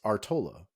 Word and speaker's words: Artola: name, like when people say my last name, it's Artola, right? Like Artola. Yeah. My last name is Artola. Like Sure. that is okay, but that's what I mean. Like it is pronounced differently.